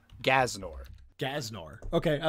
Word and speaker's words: G'aznor: the name that we've got is gnor which is spelled g Apostrophe a z n o r gnor gnor okay I like gnor okay the next